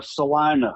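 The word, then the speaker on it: Celina: When we pronounce it wrong, it's Salina.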